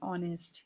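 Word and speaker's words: honest: एन ऑनेस्ट इसमें S silent है। ओ की आवाज आ रही है।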